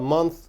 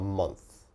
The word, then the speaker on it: month: month okay so a month little bit difficult to pronounce a month a month your tongue has to come out a little bit a month a month